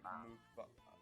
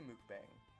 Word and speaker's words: mukbang: Yeah, but I assume it's ASMR mukbang. I say mukbang. But Well, mukbang. that's a very American pronunciation. It's a Korean word.